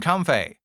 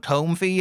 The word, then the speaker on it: Comfey: Well, to be fair, most people call it Comfey and not Comfey.